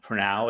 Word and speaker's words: Pranov: Well, I'm Pranov, as Lou said, and actually you got the pronunciation perfectly.